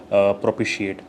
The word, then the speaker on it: propitiate: Antonym is incite, irritate करना किसी को would be the antonym of propitiate. So what is the pronunciation? Propitiate. Propitiate sounds like somebody is eating something. Propitiate. She ate.